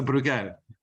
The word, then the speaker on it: Bruegel: and founding member of the, how do we pronounce this, Nicolas? It's Bruegel? We insist on the spelling. So Bruegel.